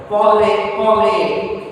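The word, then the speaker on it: parler: Any verb ending with or, any verb ending with or will make single sound a. So pronounce verb Sir, parley.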